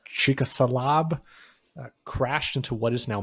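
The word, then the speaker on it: Chicxulub: not going to pronounce that word but it's pronounced chalab crashed into what is now Mexico the asteroid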